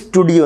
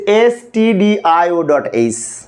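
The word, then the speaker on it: stdio.h: লিখবো include এসটি এইচ এটা কিন্তু স্টুডিও না অনেক শিক্ষার্থীকে আবার স্টুডিও বলে আমি একজন সরকারি কলেজের শিক্ষক যখন ক্লাসে পড়ায় শিক্ষার্থীরা কিছু কিছু শিক্ষার্থী উচ্চারণ করে স্টুডিও আসলে স্টুডিও না এটা হচ্ছে এসটি এইচ এস টিডি এর পূর্ণরূপ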